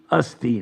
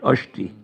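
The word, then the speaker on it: अस्ति: practice was like that it should be Asti not ushti but in Bengal everything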